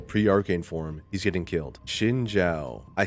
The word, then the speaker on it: Xin Zhao: Xin Zhao.